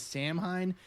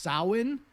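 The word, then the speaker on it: Samhain: the Irish festival of Halloween was known as Sam hein it's actually pronounced soin we've gotten about 20 emails from very very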